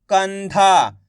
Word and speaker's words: कंधा: तो मिलके बन जाएगा कंधा। आइए समझ में। एक बार फिर से देखिए। काम अनुस्वार की मात्रा कन, धामा की मात्रा धा, तो मिलके बन जाएगा कंधा।